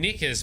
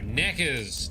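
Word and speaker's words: Nekker: Every time you say Neckers, I think you're saying Knickers, but too embarrassed to say it properly, so you say Neckers. I am not embarrassed to say things. Surely you know that. No, Neckers, not knickers.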